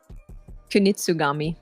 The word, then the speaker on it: Kunitsugami: How do you pronounce that game again? Kunitsugami.